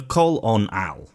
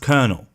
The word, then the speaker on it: colonel: before it destroying it the coal on owl you you actually you actually are a aren't you it's pronounced colonel how do you not know